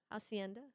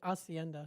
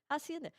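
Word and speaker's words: Hacienda: I used that Hienda Hotel was still there when I worked in Is it Hienda or Acianda? Acienda. Why? I don't know. I just always pronounced it aca.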